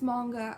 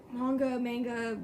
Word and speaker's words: manga: And recently, Rainbow Rowell started making, my brother said it's manga. I keep saying manga because of the way it's spelt. Either way, made a graphic novel.